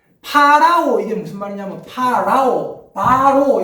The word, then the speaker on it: 파라오: 성경에는 바로라고 했는데, 그건 우리나라 사람들이 발음이 짜쳐가지고, 바로라고 하는 거고, 파라오.